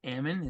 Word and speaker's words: Ammon: name is Ammon everybody's usually curious how to say it so it's just Ammon it's exactly how it's spelled and um I'm a